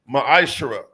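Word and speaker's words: מעשר: 3: 8-10 means temp in the Hebrew it's pronounced maish 10% of every penny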